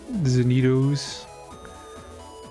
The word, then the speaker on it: Zenitos: I'm getting Zenitos, which rhymes with Doritos.